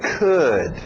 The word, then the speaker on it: could: Mesmo som de good, could, okay? Could.